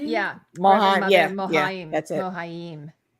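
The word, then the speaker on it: Mohiam: So she is Reverend Mother Mohaim. Yeah. Mohaim.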